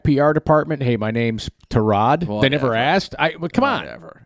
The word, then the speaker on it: Tyrod: is through hard knocks we've been pronouncing his name wrong his entire career tarad yeah taylor it's not tyrod taylor listen this is not